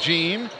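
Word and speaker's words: Jean: one is Derrick gene spells it JEA n pronounced gene the shots off the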